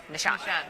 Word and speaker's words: Nishank: I put the accent on the wrong syllable. Nishank.